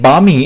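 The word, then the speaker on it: balmy: এই যে বামি, এখানে কিন্তু এল এর উচ্চারণটা হবে না।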